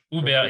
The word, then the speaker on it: Hubert: Hubert, it's like you and a bear. Okay. Yeah. In Korean, maybe Ube is the closest.